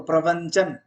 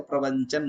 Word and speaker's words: प्रवचन: तो प्रवचन में अगर जो कह रहे हो वो नहीं करोगे तो प्रवंचन हो जाएगा। बहुत लोग प्रोनाउंस नहीं जान पाते, कहाँ जा रहे हैं?